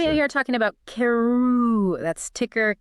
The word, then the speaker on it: Karooooo: We are talking about Keru.